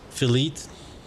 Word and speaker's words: filet: Oh my gosh, didn't read the E in filet as a silent E. Filet. Or filet. Pronounce it as filet. Oh man. I mean, it's one of those things. If you have never heard somebody like say it before, like Chibi said, it'd be really easy to mispronounce. There's a lot of ways to mispronounce that on accident.